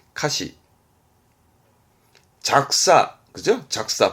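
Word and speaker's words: 歌詞: 발음은 카시. 항상 이 한자 음독은 시입니다. 카시.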